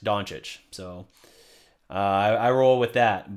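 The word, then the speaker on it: Dončić: From what I understand, I say it correct, Doncic.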